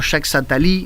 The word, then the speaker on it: Jacques Attali: conjunto de papers que se llama Jacques Attali Jacques Attali en Sevilla en la pronunciación correcta pero es un autor que vaticina